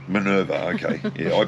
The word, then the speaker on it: Minerva: the brochure was this um how do you pronounce it minerva minerva okay yeah i pronounced it uh minova but you know tomatoes tomatoes so um and